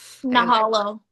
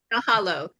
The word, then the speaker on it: Mahalo: Nahalo. Mahalo.